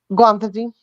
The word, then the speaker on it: guanfacine: Guanfacine. What? Guanfacine. I still have no. Why? It's for anxiety For what? What is it? and anxiety. It's guanfacine. It's exactly how it's spelled.